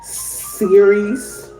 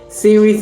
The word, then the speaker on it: Ceres: The next one is Ceres. It's spelled like series. Series.